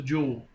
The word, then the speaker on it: Joule: six million joules then Joule is a scientific term pronounced just like the just like the rocks that come out of the earth that are expensive it's a jewel the utility company charges